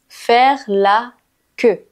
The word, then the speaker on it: faire la queue: Faire la queue. Je sais qu'il y a beaucoup de E et de U, mais la prononciation est simple.